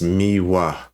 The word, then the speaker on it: Miwa: Uh, and also her name is Miwa. How do you spell it?